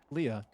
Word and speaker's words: Leah: That's pronounced lia for I don't know how that spelling is